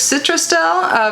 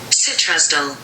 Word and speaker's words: Citrusdale: This makes Citrusdale a very special tea that is only available from this unique region.